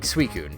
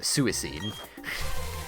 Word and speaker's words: Suicune: for a long time I pronounced it as Suicine. Even though that's adding another I that shouldn't be there.